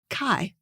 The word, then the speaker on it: Kai: My name, Kay, which I pronounce to rhyme with day, is spelled the same as a Danish man's name, Kai, which rhymes with pie.